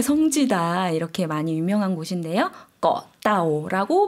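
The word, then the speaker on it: เกาะเต่า: 따오 거 라는 것은 한국분들이 사실 꼬 라고 많이 알고 계시는데요 그건 영어를 이제 한국어로 바꾸다 보니까 그렇게 발음을 하신 거구요 섬 이라는 것은 태국식 발음이 떠 라고 발음을 해 주셔야 됩니다 나오라는 것은 거북이 라는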